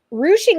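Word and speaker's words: ruching: basics of rouching um rouching is spelled r u c h i n g looks like it's spelling ring um but rousing is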